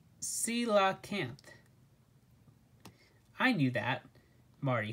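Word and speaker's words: coelacanth: cola camp to rescue the kayaker marty said pronouncing the name ko il uh kanth grace shook her head it's pronounced si la camp i knew that marty said his usual response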